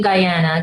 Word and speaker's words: Guyana: fan tell me about you grew up in Guyana is that how you say it yeah so I was born in Guyana Diana the only english-speaking country in South America